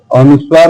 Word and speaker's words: अनुस्वार: अनुस्वार है, इसको क्या बोलेंगे? अनुस्वार, अनुस्वार। क्या है? अनुसार। अनुसार कैसे है? अनुसार, अनुसार कैसे उच्चारण करेंगे? नासिका से, नासिका अनुस्वार।